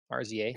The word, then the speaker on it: RZA: sorry for for Afro Samurai yeah oh yep RZA is that how you say it I always